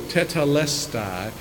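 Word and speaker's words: τετέλεσται: is one Greek word, it's a four-syllable, tetelestai, and it means it has been accomplished.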